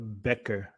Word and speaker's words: Becher: Now it's pronounced Becker. Becker.